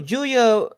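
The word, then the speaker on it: Giulia: say that they acquired Julia yeah like who Julia har no the the wrest no no no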